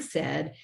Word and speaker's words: said: I just need to remember in the word said, it's an AI that spells that eh, or that AI is pronounced eh, if I'm decoding it.